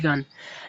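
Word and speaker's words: yuan: China का capital Beijing है और इसकी जो करेंसी है वो है जी यू वाई यूए एन इसको प्रोनाउंस करते हैं यन लेकिन याद रखिएगा एक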